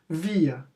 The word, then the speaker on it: wir: É importante vocês saberem o alfabeto, porque aí vocês pegam uma palavra dessa, W-I-R, e vocês vão conseguir ler da forma certa. Via. Aí a pronúncia entre aspas.